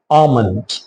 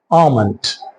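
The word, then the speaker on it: almond: Next word ஆல்மண்ட். ஸோ இதை ஆல்மெண்ட் அல்லது ஆல்மெண்ட் அப்படின்னு சொல்லக்கூடாது. ஸோ எல் வந்து இதில் சைலண்ட். ஸோ இது எப்படி சொல்லணும்? ஆமண்ட்.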